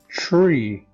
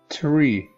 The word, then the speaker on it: tree: This is not the T sound, because this word is pronounced like tree, not tree, tree.